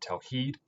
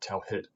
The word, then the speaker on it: tawheed: So we pronounce that word tawheed, not tawhid.